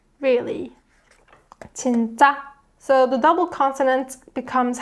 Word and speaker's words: 진짜: 진짜. So it's more tensed up version of 지, and it's more high pitched, just like every other final consonant, right? 진짜. Really. 진짜.